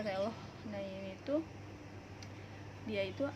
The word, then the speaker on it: reloj: Nah untuk contohnya itu adalah reloj ya, karena J itu dia tuh hampir dibacanya seperti H, jadi reloj.